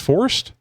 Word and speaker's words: Fordyce: Fordyce. Fordyce. Okay, well that makes sense. Mm-hmm. Just if they had put an I in there, I would have had a better chance.